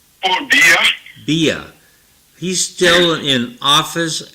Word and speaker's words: Biya: And, 93-year-old Paul Biya, is that how you pronounce the president's name? Oh, Biya?